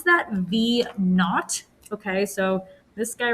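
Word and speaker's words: v₀: that you say that that's zero there you pronounce that v naught okay so this guy right here you pronounce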